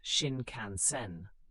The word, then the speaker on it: Shinkansen: The famous Shinkansen, pronounced Shin Canansen, bullet train, connected Tokyo and Osaka.